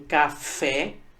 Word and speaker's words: café: Assim como café, veja que a sílaba tônica, a sílaba mais forte é a sílaba fé, a última sílaba.